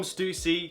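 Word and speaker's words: Stüssy: It's actually pronounced Stussy, by the way.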